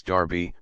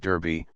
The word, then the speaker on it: Derby: their mug houses of the great Lords Darby bark Elli and bardy in Paul mul and Mayfair these personages are spoken of in exactly the same manner at the present day whilst in the city and amongst the middle classes we only hear of Derby Berkeley and see comma the correct pronunciations if the spelling is worth a it must